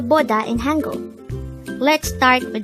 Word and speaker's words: 보다: is a two-syllable word the first syllable is bo the second syllable is da pronounce it with me poda boda the word boda is